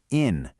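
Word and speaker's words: 인: This feeling is actually rooted in a core Confucian virtue known as in, which is pronounced in Korean.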